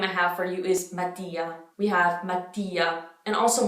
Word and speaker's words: Mattia: So we have the double T. So you have to make a pause right after the A. Mattia, Mattia. The I and the A are pronounced pretty strongly.